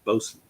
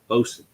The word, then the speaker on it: Boatswain: If you guys don't know how to pronounce Bosun, that's Bosun. I know it looks like Boatswain, but that's Bosun.